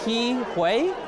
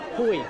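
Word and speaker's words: Ke Huy Quan: Just so I get this clear, because I've seen people pronounce your name differently on the internet. Is it Ke-Huy? Hui.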